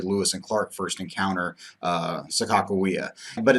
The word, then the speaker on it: Sacagawea: now when I say Sacagawea that's actually more of the American pronunciation of her name and I apologize if